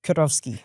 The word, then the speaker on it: Kurowski: See the the W becomes a V and you're meant to roll your Rs. Doesn't work for me cuz can't roll my Rs. So you just say it fast enough.